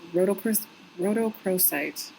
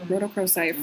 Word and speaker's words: rhodochrosite: life um this particular Stone combines well with rhodochrosite that's how you pronounce it rhodochrosite for work concerning the healing of the inner